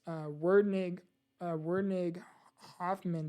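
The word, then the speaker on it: Werdnig-Hoffmann: And type 1 is Wernig-Hoffman disease. That's how you pronounce it.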